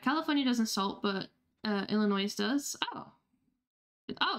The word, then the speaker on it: Illinois: oh okay does ILL I'm don't know if I'm saying Illinois right is does Illinois ill does Illinois ill I feel like that's I'm pronouncing that wrong ill Illinois Illinois okay yeah I was like I'm pronouncing the last syllable wrong thank you does does